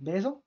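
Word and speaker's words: bezañ: Mais le verbe être en breton, par exemple, qui se prononce baise, est un verbe irrégulier, d'ailleurs, comme c'est indiqué ici, qui est un joie et bonheur de conjugaison.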